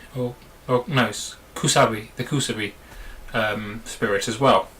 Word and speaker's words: Kusabi: Sei, as well as the, if I can pronounce it right, the Katsbi, or no, Kusabi, the Kusabi spirit as well, who was a previous sacrifice.